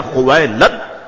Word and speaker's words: خویلد: تھا۔ والد کا نام خویلد تھا۔ یاد رکھیے گا بعض لوگوں کو یہ پڑھنے میں دشواری ہوتی ہے، مگر میں نے اس کا آسان سا تلفظ بتا دیا، خویلد۔ یہ حضرت خدیجۃ الکبریٰ